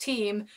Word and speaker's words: Thiem: comments telling me that it's not pronounced Thiem, it's pronounced Thiem, which obviously I know all the Brits pronounce it that way, and most people do pronounce it that way. I heard a different pronunciation from the man himself, so that was why